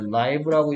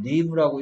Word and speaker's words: live: 원래는 정상적인 규칙대로라면 I가 돼야 되지만 얘를 라이브라고 읽을 수도 있고 리브라고 읽을 수도 있는데 라이브라고 읽을 때 뜻과 리브라고 읽을 때 뜻이 달라지는데 여기서는 리브라고 읽어야 되는 뜻이에요.